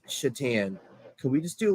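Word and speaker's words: Šatan: Miroslav Shatan. Now, it's not really how his name sounds. It's funny. It's how it's spelled. It's spelled like Satan.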